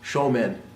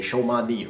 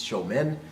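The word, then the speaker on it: 正面: the word is pronounced show men and that's sho Mon right you'll hear our students say show Monte Rea it's not show Mon it's show men pronounced the same way as the word men English although it doesn't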